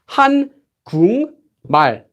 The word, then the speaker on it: 한국말: The letter before it does, and this becomes pronounced 한국말, 한국말.